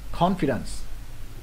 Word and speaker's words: confidence: Rồi tiếp cái từ này mình đọc nha, confidence. Confidence, nhấn bên đầu.